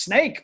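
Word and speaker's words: Sneek: a uh if it's spelled s-n-e-k but it's pronounced snake because they're free slanders up there and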